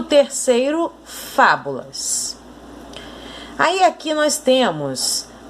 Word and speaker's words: Fábulas: Em Fábulas, a mesma coisa. A sílaba mais forte é o Fá, porque é ela que está com acento.